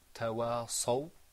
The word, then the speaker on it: تواصوا: So could you say tawasaw? تواصوا. Okay. Now the way to help you, that was right. Just remember now to purse your lips when you pronounce the sad sound. And have a full mouth.